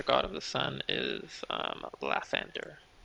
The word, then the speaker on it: Lathander: The most popular god of the sun is Lathander How do you or spell that? Lathander. Oh, Lathander, okay.